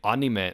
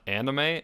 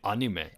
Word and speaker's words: anime: manga I know that properly you're supposed to say anima not anime and I can't bring myself to say on you may yeah well I think